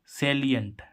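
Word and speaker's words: salient: है ऐसे ही इसमें एस ए एल आई ई एन टी सेलियंट देखो इसमें भी छोटी ई का रहा उच्चारण एस एल आई तो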